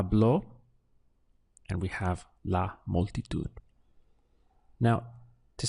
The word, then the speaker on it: multitud: we have a blow and we have la multi to it now to say she spoke to the crowd